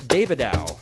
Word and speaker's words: Davidow: We have Allison Davidow. That is the correct pronunciation.